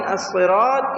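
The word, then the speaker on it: الصِّرَاطَ: The sad in as-sirat is not qalqala, echoing sound. Qalqala means echoing sound, and should be read clearly with heaviness.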